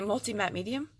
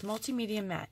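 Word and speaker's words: Multimedia Matte: I say multi-matte medium all the time. It's multimedia mat.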